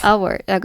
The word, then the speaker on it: hour: 한시간이란 뜻인 어는 여러분 H가 묵음이죠. 따라서 발음은 사ound들에서 모음 모음 충돌라니까 자음 하나 넣어서 발음을 편리하게 했죠. an hour라고 하셨죠.